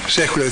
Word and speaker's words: Sekhuleya: Sekhuleya, thank you for pronouncing it for me.